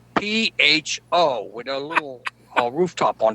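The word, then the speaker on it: phở: She said it's called pho. I said, how do you spell that? And she said, P-H-O, with a little rooftop on top of the O.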